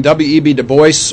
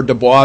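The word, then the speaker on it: Du Bois: in our text was comparing web2 voice or Dubois depending on how you want to pronounce that and booker t washington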